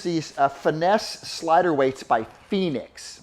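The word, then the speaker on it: Phenix: I use these finesse slider weights by Phoenix. Now Phoenix is spelled P-H-E-N-I-X, finesse slider weights.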